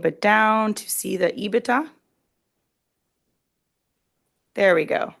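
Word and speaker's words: EBITDA: Abiba. That's not how you say it. IBITA.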